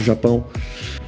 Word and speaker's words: Japão: Wiemy, jak się po brazylijsku wymawia Japonia. Japonia po polsku, tak. Po portugalsku Japão.